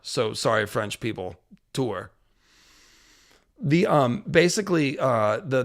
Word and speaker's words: Tours: Tour and it's you don't pronounce the S. It's just Tour. So, sorry French people. Tour.